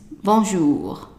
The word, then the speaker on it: bonjour: So it's bonjour. Bonjour. So remember to close your lips when you're pronouncing the OU.